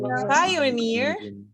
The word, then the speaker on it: pioneer: words that and in suffixes such as ear or e stress on the final syllable like engineer engineer pioneer pioneer guarantee we're gonna practice